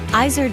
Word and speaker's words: Izard: go restaurants started with my last name which I say eyes are but in French it's hard which is a mountain